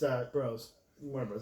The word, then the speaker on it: Warner Bros.: Also announced Warner Bros. That's how you pronounce it.